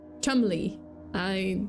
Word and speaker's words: Cholmondeley: David Rocksavage, the 7th Marquess of Cholmondeley. Yeah, that's apparently how it's pronounced.